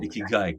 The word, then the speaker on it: ikigai: Ikigai, correct.